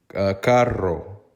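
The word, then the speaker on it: carro: r r o Caro that double r needs to be rolled a lot of times the Costa Ricans don't roll that they say it like it's not rolled but it doesn't sound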